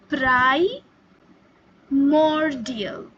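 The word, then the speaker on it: primordial: तो प्राईमियल जो आप यह शब्द देख रहे हैं अपने स्क्रीन पे इसे हम प्रोनाउंस करते हैं प्राई मोरियल प्राइमियल प्राई प्राइमोडियल का क्या मतलब है?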